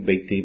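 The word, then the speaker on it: ביתי: Por exemplo, como a frase que as pessoas dizem, Beiti Beitcha. Beiti, sabe que a pronúncia mudou, aqui é Bait, e aqui é Beit, Beiti, que ele tem aqui um anexo, né, nele, o sufixo.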